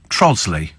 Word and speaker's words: Trottiscliffe: ridiculous there's also also trottiscliffe in Kent trosley really that's just ridiculous